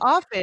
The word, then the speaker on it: often: The word is often. I think you do. T is silent. It's often.